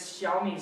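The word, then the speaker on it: 小: It's the third tone, the one that goes down and up. Awesome, very good, yeah. Because in the story there's the dragon taking a picture with his Xiaomi smartphone. So the pronunciation is xiao.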